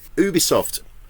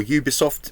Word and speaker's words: Ubisoft: Ubisoft, or Ubisoft, depending how you want to pronounce it, they're doing a version of Division.